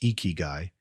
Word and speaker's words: Ikigai: Ikiguy, pronounced eeky, is a Japanese concept that marries iki, life